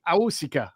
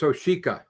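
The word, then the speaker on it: Awosika: A former Eagle Coyote Aika. I hope I pronounced that correctly. Yes. Yes. It's Oshika.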